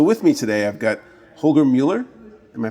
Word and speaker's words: Holger Mueller: So with me today, I've got Holger Mueller. Am I pronouncing that right, Holger?